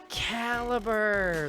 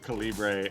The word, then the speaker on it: Calibre: credit came up and I went Caliber like it didn't make sense until the end of the movie did I put this together. I had been pronouncing it Calibbre and then I finally